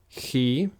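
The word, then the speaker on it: chi: next is he again key and this is the letter I warned you about it looks like an X but it's not pronounced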